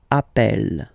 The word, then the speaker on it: appelle: So when you get this e vowel, and then you get a double consonant, and well, they are the same, then it does change the pronunciation of e. You tend to pronounce it like really open. That's the reason why you pronounce it appel.